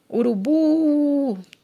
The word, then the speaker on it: urubu: Temos o exemplo aqui de urubu, maracujá, né, jabuti, boné, ó, urubu, a sílaba tônica é o bu.